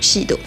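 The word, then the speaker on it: SID: Donc ça s'écrit S-I-D, mais je crois qu'en katakana ça se prononce bel et bien Shido.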